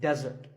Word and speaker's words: desert: not be confused with desert here the stress is on the first syllable which is death desert now I said that